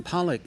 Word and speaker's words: Pollock: Pollock?